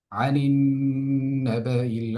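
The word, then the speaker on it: عن النبإ: আম্মা ইয়াতাসাআলুন, আনিন নাবাইল আযীম। এবার আমরা এই আয়াতের মধ্যে যদি তাকাই, আনিন নাবা, এখানে নুনের মধ্যে আমরা গুণা করছি।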